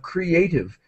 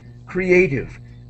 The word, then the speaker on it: creative: the pronunciation of creative we do pronounce each vowel separately so cre a creative uh um often in English we pronounce two vowels with the same sound but this time we're pronouncing each vowel creative uh chra go ahead